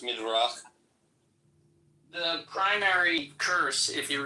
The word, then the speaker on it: Midrash: It's in the Midrash. It's in the Midrash, okay. But what's up with black people being cursed? It's actually pronounced Midrach.